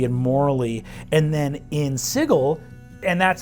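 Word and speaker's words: Sigil: all aligned ethically and morally and then in sigle and that's how you pronounce it sigle like wiggle it's pronounced differently okay if you're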